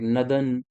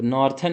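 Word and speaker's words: northern: western ठीक है ना यहां पे आर साइलेंट रहता है इसलिए नदर्न पढ़ रहे हैं सदर्न पढ़ रहे हैं ईस्टर्न पढ़ रहे हैं और वेस्टर्न पढ़ रहे हैं तो नॉर्थन मत पढ़ देना इसको नदर्न को ठीक है ना इसको नॉर्थन मत पढ़ देना गलत हो जाएगा क्योंकि प्रोनाउंसिएशन भी बहुत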